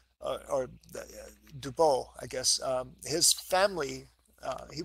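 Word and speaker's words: Dubos: antibiotics I want to tell you about Rene do bomb or do Bowl I guess his family he was American born in France but his family actually pronounced Debo's which is a sort of a typical pronunciation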